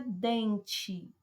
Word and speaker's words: dente: e na palavra dente qual é a sílaba tônica da palavra dente como é que se destaca mais é o dem observe aqui que eu vou ter o que a segunda sílaba de trás para frente bem eu voltei uma paroxítona penúltima sílaba acentuar tá aí uma